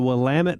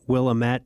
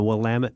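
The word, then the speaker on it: Willamette: They're really small towns, but it's the Wamut Valley. And often times people mispronounce the Wamtt Valley um calling it Willilamett but because it looks like that when you you know spelled out but it's the Wamut Valley and it is one of maybe the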